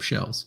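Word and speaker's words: Kjell: he always digs up shells so oh so it's spelled s-h-e-l-l no it's spelled k j e l l duh shell never met someone named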